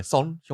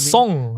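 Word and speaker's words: Son Heung-min: Yeah, Son Hyung-min. Not Song.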